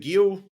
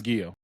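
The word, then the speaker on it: Giyu: I think it's Guio. I think it's Guio toy. I'm looking it up. It's like G I yo and then Tomayoki.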